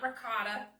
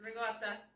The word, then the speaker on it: ricotta: It's not ricotta. That's how us Americans say it, but that's not the Italian way. It's ricotta.